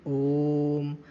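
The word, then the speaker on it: ओ३म्: में ज्यादा टाइम लगेगा अगर तीन का अंक ना बना होता हम पढ़ते इसे ओम ओम लेकिन जब तीन का अंक बना हुआ है तो हम इसकी मा उच्चारण में जो समय लग रहा है उसे बढ़ाएंगे जैसे कि ओम तो हम देख रहे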